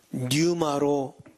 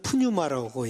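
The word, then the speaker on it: πνεῦμα: 거의 100% 루아가 뉴마로 해석이 돼요. 많은 분들은 푸뉴마라고 얘기하죠. 근데 원래 피는 묵음이에요. 그래서 뉴마.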